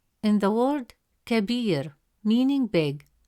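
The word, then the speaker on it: كبير: Second example, the word kabir. In the word kabir meaning big, the letter ba has a kasra vowel which gives it a short e sound pronounced as b.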